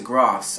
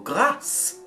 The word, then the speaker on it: Grasse: It takes me to Grasse, and I can see why, because Hatchery looks a little bit like grass to me. So, or Grasse, if I'm going to say it properly.